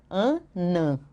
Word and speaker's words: anã: na na sílaba final quando eu coloco esse sinalzinho aqui eu mudo de Ana para an Ok só por causa desse sinalzinho aqui Ana Ana eu mudo para anã então a mulher anã